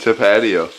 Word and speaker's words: Tapatio: hot sauce but Michael how was Tapatio pronounced to patio awesome finish to the